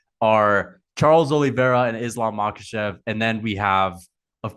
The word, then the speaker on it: Makhachev: Shemaev, is that how you say it? Shemaev, yeah. Yeah. He hasn't done and he hasn't fought anybody. Oh, Makhachev, yes.